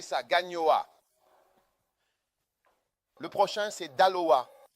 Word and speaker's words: Daloa: Le prochain c'est Dala, D A L O A.